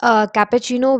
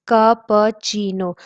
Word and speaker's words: cappuccino: Then comes cappuccino, which is one of the most heard among all these, and it's preferred by many too.